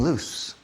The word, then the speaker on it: loose: okay but there's something loose the dog is loose l o o s e two o's in the middle and listen to the pronunciation of the s El Perro estas the